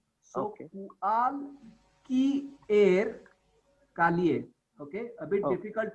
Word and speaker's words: cualquier: C plus U is ku. After that comes a. So ku plus a means kua. And then again Q plus U is pronounced as ka. So and after that follows I.